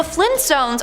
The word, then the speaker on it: Flintstones: Now, the Flintstones are pronounced as so you would think it would be spelt as so. No, apparently it's the Flintstones with the hard T.